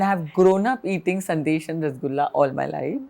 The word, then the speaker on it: Sandesh: So I'm from Calcutta and I have grown up eating sandesh and rasgulla all my life. I think all And Bengalis will be very offended if you don't pronounce that right. So it's Sandesh.